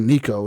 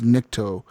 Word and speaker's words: Nikto: It was called the Nikto operator, because his name is not Nico. His name is Nikto, and he's an operator.